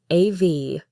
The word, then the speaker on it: of: The word a becomes I, and of becomes av. The F in of is actually pronounced like a V.